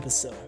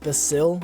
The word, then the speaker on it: Basil: for your lost friend basil uh i might be pronouncing his name wrong but i've gotten so used to saying basil with the emphasis on the eye rather than on the a for basil uh if if saying